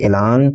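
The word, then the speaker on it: élan: Pronunciation होती है इसकी ऐलान।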